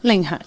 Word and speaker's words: Lenhart: Am I saying it right? Lenhardt? Lenhardt, yeah. Lenhardt.